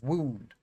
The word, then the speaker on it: wound: Past tense of a verb is wound. The noun is wound.